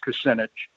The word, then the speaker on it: Kucinich: took me a year to learn how to pronounce it but it is percentage and I did represent um uh Cleveland area